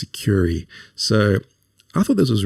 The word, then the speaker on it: Sucuri: Okay, now Securi is the next one, or Securi, depending on how you want to pronounce it. I think it's Securi.